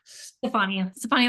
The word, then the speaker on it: Stefani: Stefani like Gwen.